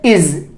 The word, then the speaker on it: is: तो आइए, इसको हम कैसे बोलेंगे? इसको हम कैसे प्रोनाउंस करेंगे? इज। कैसे बोलेंगे? इज। मैंने जितने भी वर्ड्स लिए हैं उसमें सब में क्या होगा? जा का उच्चारण होगा, जा का प्रयोग हुआ है। लेकिन वही है, ज्यादातर लोग इसको क्या बोलते हैं? इस अक्षर के साथ बोलते हैं, जा जा बोलते हैं।